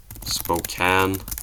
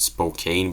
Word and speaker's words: Spokane: Spokane. I always thought you pronounce it Spokane, but apparently Spokane.